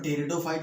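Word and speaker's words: pteridophyte: यहाँ P silent है, ठीक है, टेरिडोफाइट मत पढ़ना, इसको टेरिडोफाइट है।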